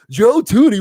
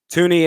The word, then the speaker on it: Thuney: Joe Thuney, what? That's not how you pronounce his name. It's Joe Thuney, man.